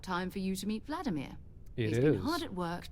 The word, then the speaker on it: Vladimir: And also, by the way, technically, Vladimir in Russian anyway, it's pronounced Vladimir. Like they put emphasis on the E. Meanwhile, we're like Vladimir.